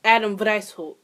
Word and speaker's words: Adam Weishaupt: So, the founder was actually Adam Weishaupt. Wow, Salvatore should know how to pronounce a German last name considering she's been speaking German for almost a year.